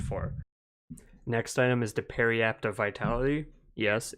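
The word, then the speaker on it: Periapt: is pretty good for next item is the parry apt of vitality yes it's pronounced parry apt in case you didn't know that 350 gold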